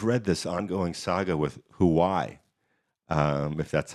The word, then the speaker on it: Huawei: know if you've read this ongoing saga with who why if that's how it's pronounced Huawei Huawei thank you I'll brush up on my Chinese